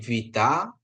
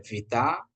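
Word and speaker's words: βήτα: Ini vita ya. Jangan sampai kita sebut B ini ya. Ada vita ya.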